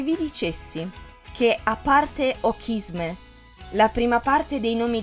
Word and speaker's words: Ochisme: Se separiamo in due la parola e pronunciamo il CH come una C dura, otterremo kiss me. E se vi dicessi che a parte ochisme, la prima parte dei